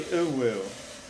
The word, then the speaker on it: uwu: You gotta just say uwu. That's how you say it.